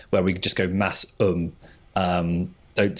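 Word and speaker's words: Masham: of Blueface Leester and Massum. Uh, and Massum is that breed that's spelled like Mashem.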